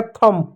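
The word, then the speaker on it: thumb: टी एच यू एम बी एम के बाद बी है तो बी साइलेंट होगा। टी एच को क्या पढ़ेंगे? थ पढ़ेंगे। यू साइलेंट हो गया। एम को म पढ़ेंगे। हो जाएगा थंब।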